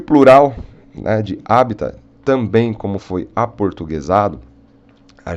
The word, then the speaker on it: habitat: Mas o mais correto no latim é sem o T, é com o T mudo, habitat. Tá? E o plural, né, de habitat, também como foi aportuguesado, a gente usa como os habitat.